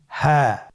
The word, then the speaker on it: হা: হ্যাঁ। হ্যাঁ। হা হরফটি উচ্চারণ ক্ষেত্রে অবশ্যই বারিক হবে এবং 1 আলিফ টেনে পড়তে হবে।